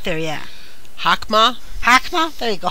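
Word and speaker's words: Chokhmah: oh come on right here right there yeah hokhmah come on there you go come on Hawks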